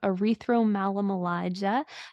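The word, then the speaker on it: erythromelalgia: And don't blame me for how I pronounce it, but it's called erythromelalomalagia. There's some different pronunciations of it, but that's how my doctors go, and so I'll use that pronunciation as well.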